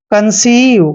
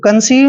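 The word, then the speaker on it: conceive: कि बड़ी ई की मात्रा ई आई का उच्चारण बड़ी ई की मात्रा किया है जैसे कंसीव कंसीव में भी क्या है ई के बाद आई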